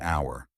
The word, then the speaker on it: hour: air an honor an hour in these cases the H is silent so the words begin with vowel sounds and an is used